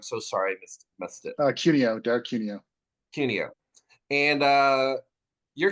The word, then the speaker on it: Cuneo: Derek Cuneo, is that right? Cuneo. Oh, Cuneo. I wasn't even in the ballpark.